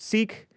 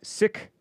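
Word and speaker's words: Sikh: siik religious SI ik sometimes pronounced seek sometimes pronounced sick and whatever rightly or wrongly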